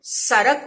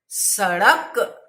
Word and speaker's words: सड़क: बहुत अच्छे लोग सड़क को सरक उच्चारण करते हैं, पेड़ को पेड़ उच्चारण करते हैं, पेड़ नहीं पेड़, सड़क।